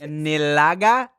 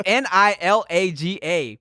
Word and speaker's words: Nilaga: Nilaga? I don't think you pronounced that shit right. Definitely not, but I don't know what it is. I don't know how else to pronounce it. Nilaga? It's Nilaga.